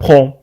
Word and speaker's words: prompt: لاحظوا معنا prompt تكتب prompt لكن ننطقها prompt مثل كلمة le temps. Mais on ne le prononce pas. Il y a des mots en français dont il y a pt à la fin, mais on ne le prononce pas. Comme prompt, prompt rétablissement, comme le temps.